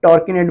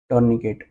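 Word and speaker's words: tourniquet: वहां पे बहुत टाइट टॉर्किनेट बांध दिया, टॉर्किनेट बांध दिया, टॉर्निकेट, सॉरी प्रोनाउंसिएशन में, टॉर्निकेट बांध दिया।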